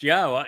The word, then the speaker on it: Yahweh: And um and here is the evidence that Yahwa's name is pronounced Yahwa.